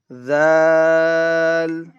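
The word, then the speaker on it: ذ: Letter number nine is Zal. You will bring out your tongue on letter number nine. Zal. Zal.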